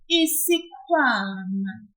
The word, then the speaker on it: isikhwama: In speaking isiZulu, always pull the syllable before the last one. For example, in the noun isikhwama, a bag, pull the syllable kwa a little bit, just like this, isikhwama.